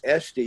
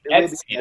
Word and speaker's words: Etsy: So if you go to Etsy, you'll be but it will be Etsy, not Etsy. Etsy is your aunt, I think, but Etsy. Etsy.